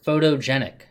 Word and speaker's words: photogenic: an interesting thing here the stress a photograph is on the first syllable photographer is on the second and photogenic is on the third and let's go on